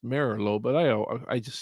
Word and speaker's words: Merlo: you didn't merlo that's italian name it's actually pronounced merlot but i i just say merlot because that's how everybody's called me by that